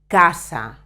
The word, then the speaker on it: casa: two kinds of pronunciation when the letter C is in front of a o u H do you remember the vowels the Spanish valves pronunciation in front of a o o it always always sounds like a k examples c a casa